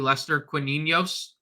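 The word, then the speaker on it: Lester Quiñones: going to give a a hat tip to Lester quos that's that's the official pronunciation I was listening to the broadcast tonight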